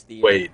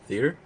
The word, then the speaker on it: theater: Is that not how I pronounced it? Theater? No, theater. You said theater. Yeah. We say theater. Okay. Yeah. So I said it the like normal non-southern way, right?